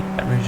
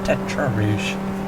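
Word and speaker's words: Tertre Rouge: I've been corrected by a spotter that the Tete Rouge is actually pronounced Tetra Rouge.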